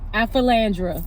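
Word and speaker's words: Aphelandra: Alphilandra.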